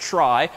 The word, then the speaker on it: trie: But first, let's introduce a similarly named, if oddly named, structure called a try. So it's pronounced try.